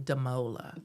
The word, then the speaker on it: Damola: I saw an interview with him a couple of months ago, and he's pronounced his name Damola. Damola.